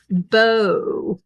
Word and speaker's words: bow: Bow, like Bough.